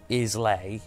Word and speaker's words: Islay: You've got the Islands, and then you've got Isla, which is spelled like Islay, but it's Isla pronounced.